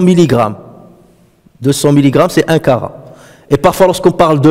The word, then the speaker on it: carat: Et même aujourd'hui, d'ailleurs, on l'utilise, aujourd'hui, on parle de le kara. Hein? Lorsqu'on parle des bijoux, 18 karats, 19 karats. Kara, là, ça s'écrit avec un T à la fin, c'est qirat, karat.